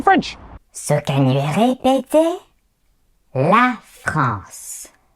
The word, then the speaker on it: la France: La France. La France.